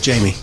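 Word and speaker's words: Jaime: It's Jamie. Jamie? Mm-hmm. You pronounce the E?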